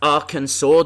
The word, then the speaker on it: Arkansas: But it's pronounced Arkansas. Don't ask why.